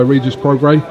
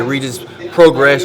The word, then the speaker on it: Regis Prograis: joined by regis progre if I pronounced your name right you got it perfect most people get it wrong what we're getting out in my country and they say Rita's progress recent progress reaches all kinds of stuff what you